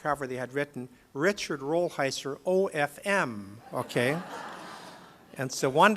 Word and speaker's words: Rolheiser: say my name and I'd say rollheiser I said look it's if you get mixed up it's like the beard just say Budweiser it's close enough so he went up